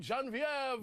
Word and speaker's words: Genevieve: They both, Martin and Genevieve, how do you say her name? Genevieve. Yeah, there you go. You nailed it. She's French. She's French Canadian, so you have to add the extra accent to it.